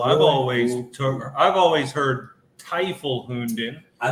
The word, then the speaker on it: Teufel Hunden: What's the What's the right way to pronounce this? Make sure I don't mess it up. Toyful Hund. Is it Well, I've always I've always heard Tyful Hound.